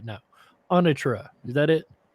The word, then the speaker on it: Anatra: I'm trying to get the pronunciation right now. Anatra, is that it? Anatra, yes, you got it.